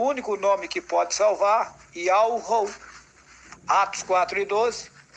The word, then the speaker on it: Yahweh: do nome do Altíssimo, porque o nome do Altíssimo, a pronúncia, ela está contida em um tetragrama hebraico. Iod, Re, Vav, Re, no português é YHWH. E daí o Altíssimo mostrou para mim, me fez saber a pronúncia do seu nome, Yahweh.